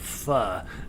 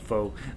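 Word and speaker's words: phở: ever want to go to uh get great fun um god my that was the first place i ever got fu and a pho pho we know all americans call it foe uh it's called pronounced fu uh oh my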